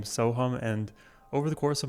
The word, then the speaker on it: Sohum: is Ham, because, well, my name can be spelled Sohum or with an A, Soham, but the phonetic pronunciation doesn't translate as well when it's written as A. So my parents, they're like, let's put a U in there, make it easy for all of the Westerners to pronounce.